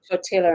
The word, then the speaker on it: tortilla: Tortilla. And I said, it's just tortilla. You don't pronounce the L's.